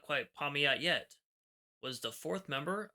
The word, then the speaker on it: Pamiat': Also, I'm used to saying Paimat. I've been saying that for years. I realize that's not the correct pronunciation, so I will try and be correct on this video.